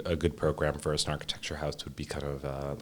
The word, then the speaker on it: Snarkitecture: Well, first and foremost, Snarkitecture rhymes with architecture, which is why we chose it. Yeah. But the word snark and that part of Snarkitecture is based on a Lewis Carroll poem called The Hunting of the Snark.